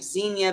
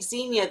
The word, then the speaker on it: Xenia: How long has the Xenia been in the tank?